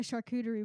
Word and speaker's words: charcuterie: it is just like a charcuterie board.